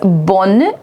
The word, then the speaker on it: bonne: So together, bonne, bonne, bonne, bonne. I will be pronouncing it till N.